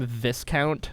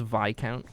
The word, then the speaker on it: Viscount: Do you know how many times I pronounce Lykan's name Viscount before I knew that it was Viccount?